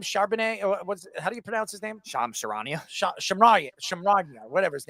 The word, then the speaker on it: Shams Charania: How do you pronounce his name? Shams Charania. Shamrania, whatever his name is. How do you pronounce it again? Shams Charania. Charania.